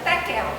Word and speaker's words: Tekel: Para nós pronuncia Tekel, T-E-Q-E-L, né?